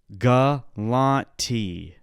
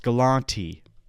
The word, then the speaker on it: Galante: 1 s one R galante Forest galante is pronounced as follows Forest forist galante oh it's galante thank you grock thank you grock let me